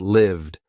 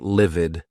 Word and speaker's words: lived: Answered, robbed, mugged, hummed, used, quizzed, lived. Not livid. That's another word, not livid. Lived.